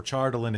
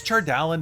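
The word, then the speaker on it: Chardalyn: chardallian as far as you can tell or chardolin if you pronounce it incorrectly take that no it's fine i know it's charred allen but i've like charred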